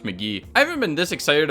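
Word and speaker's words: Mk.gee: album from California songwriter allegedly pronounced McGee I haven't been this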